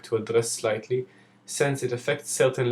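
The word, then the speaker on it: שׂין: thought you shin and the shin with the left dot is pronounced with an s sound and is called sin another topic i want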